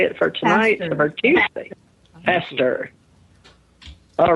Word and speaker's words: Pastor: Hester.